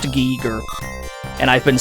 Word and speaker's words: Giger: I assume it's pronounced Giger. And I've been saying it wrong my whole life. I've always been saying H.R. Geiger, because that's how it looks to me. But I think it's pronounced Giger.